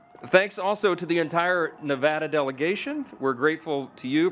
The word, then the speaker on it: Nevada: So we always say Nevada, and now it's supposed to be Nevada.